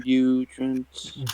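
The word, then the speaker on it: Beuront: Butront. B-E-U. Butront. But Ront. What rot? God. No, Ront. There's an N. Oh. So not butt rot.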